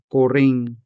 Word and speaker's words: kuring: Another example would be koring, koring for cat. For this word, the stress is on the second syllable. Koring, koring.